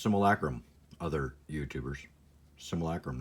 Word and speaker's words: simulacrum: Similac rooms I gotta say and yes it's pronounced simulacrum other youtubers simulacrum not Somali Chrome or whatever and the sanctum of all more